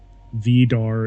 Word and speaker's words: Vidar: Is it weird that I've always pronounced it as Vidar? Like that. I say Vidar. It just seems correct to me. But, oh well. I don't honestly care. Pronunciation gets really, really finicky sometimes. Vidar is the correct one.